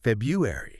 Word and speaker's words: February: Make sure that first R is audible.